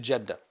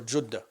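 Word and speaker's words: Jeddah: He flees to Jeda or Judah as as it's pronounced uh correctly.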